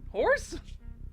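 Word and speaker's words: Khors: The moment we heard it, I saw it was K H O R S. I was like, that's how you pronounce that? Horse?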